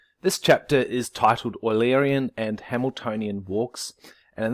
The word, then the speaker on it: Eulerian: you put in your car so the word oily Aryan which comes from his last name is pronounced as I'm saying it or el-erian like